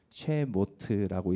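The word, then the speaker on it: שמות: 이것들 하고 그 다음에 쉐모트라는 단어거든요. 쉐모트라고 읽는데 이게 바로 이름들이라는 복수 형태입니다.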